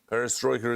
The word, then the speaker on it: Perestroika: Perestroika. Perestroika is correct.